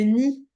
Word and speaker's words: nid: J'ai pas dit le Nil, j'ai dit le nid.